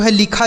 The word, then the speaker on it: hello: HELLO, तो एच से पढ़ते हैं आपका हा, ई से एक ही मात्रा, और डबल एल है तो हमने बताया कि अगर कोई भी अक्षर 2 बार आता है तो एक को हम साइलेंट कर देते हैं, एक से लिखते हैं। तो यल से लिखेंगे लॉ, और ओ से ओ की मात्रा, यह लिखा है हेलो।